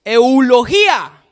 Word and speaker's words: eulogía: cultivo de la uv y tilden la eulogía así está bien pronunciado así resulta que yo